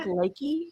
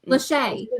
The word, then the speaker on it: Lachey: Nick Lakey? Nick Lachey.